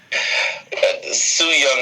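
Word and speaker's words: Su Yung: It's Sue Young is the easiest way to say her name.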